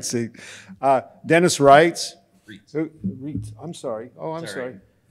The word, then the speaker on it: Reitz: Reitz. I'm sorry. Oh, I'm sorry. We changed the original German at some point in my family's history. Did you really? Because it normally is pronounced E-I, is right, yeah.